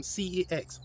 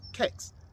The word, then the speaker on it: CeX: first experience ordering online from cex or pronounced as kex as i have been reliably informed i ordered the surface